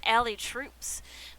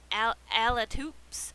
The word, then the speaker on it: Alitoups: I always thought this was Allie Troops, but I put her name wrong. It's Allie Alatoops.